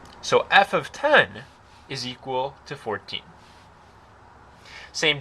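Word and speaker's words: f(10): Now when you see this notation right here, this is pronounced f of 10.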